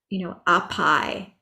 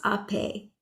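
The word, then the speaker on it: आपै: My brain wants to go to pronounce that, apai, but it's ape.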